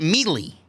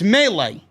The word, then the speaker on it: melee: we had jimmy smith continuing to mispronounce melee he kept calling it meatly he kept calling it mealy and corey graves at one point had to correct him uh smith it's melee i don't get these